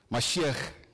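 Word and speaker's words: משיח: Pronuncia para nós aí, Machia. Mashiach.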